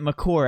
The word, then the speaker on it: Maker: How do you say Jiffy Lube? I get Jiffy, the way it's spelled. I'm telling you the way it's pronounced. J-I-F. Well, how do you get Makur out of Maker?